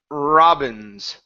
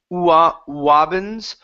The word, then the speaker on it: Robin's: Next up is Robin's. Robin's dad. Give me a good R sound at the beginning instead of saying Wobbins, Robins with an R.